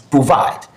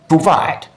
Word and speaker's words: provide: So the second syllable is vide, and you pronounce this provide, provide, provide. It's pronounced at a higher pitch, slower and longer.